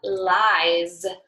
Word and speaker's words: lies: But again, this ending sound isn't spelled with a Z at all, but it sounds just like our Z right here.